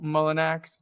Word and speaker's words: Mullinax: Um, today we are here with myself, Lady Jacob, and Joe Mullenax. Joe, am I pronouncing that correctly?